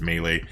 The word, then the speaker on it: melee: i'm just going to call it mealy but i know it's melee i just i've called it melee for so long that it's stuck and i'm stubborn as